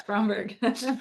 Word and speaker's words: Spromberg: Did I say that right? Yes, Spromberg? it is Yeah. Spromberg.